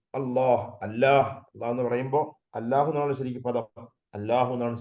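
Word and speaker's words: الله: നമുക്കൊക്കെ എപ്പോഴും ഓർമ്മ വേണ്ടതാണ് രണ്ട് ലാമും ആ രണ്ട് ലാമിന് ശേഷം ഒരു അലിഫ് ഉണ്ട് ആ അലിഫ് വന്ന ശേഷമാണ് ഹാ വരേണ്ടത് അള്ളാഹു അള്ളാഹു ശരിക്കും അള്ളാഹു എന്നാണ്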